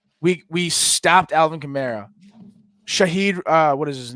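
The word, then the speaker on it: Rashid Shaheed: minus I mean we we stopped Alvin CRA Shahid uh what is his name rahid Shahed or whatever Rashid Shahed yeah I know I I struggle with it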